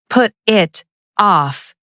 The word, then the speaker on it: put it off: Don't pronounce phrasal verbs like a robot. Put it off. The consonants and vowels connect. Say put it off. The t sounds like a fast d.